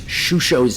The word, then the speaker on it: Shusho: started to make sure to pronounce Shusho's name correctly, as there have been certain casters who shall not be named who have been mispronouncing that, and I was told very, very defiantly that it is Shusho, and somehow the Ronin